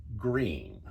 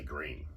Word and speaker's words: Gruene: by the name of green and i am pronouncing it the way the rest of us texans state it but it's actually spelled